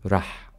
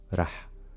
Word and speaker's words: رح: رح, there is no ألف, there is only فتحة. رح.